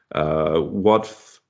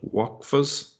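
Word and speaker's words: وقف: Okay, so he was responsible for the building project of the Sultan's water channel and for establishing its Waqf. How do you pronounce that? Waqfas?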